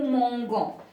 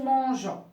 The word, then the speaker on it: mangeons: nous nous mangeons alors si j'écris de cette façon ça devient c'est nous mangons donc c'est faux je dois je dois ajouter un petit peu avant et ça devient nous mangeons c'est clair par exemple